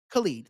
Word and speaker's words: Khaled: Is it Khaled or Khaled? I always say his name wrong. Khaled. Thank you. Khaled.